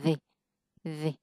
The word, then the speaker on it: the: test to the other À, tại biết sao other nó là nó là nguyên âm nên mình phải đọc là the.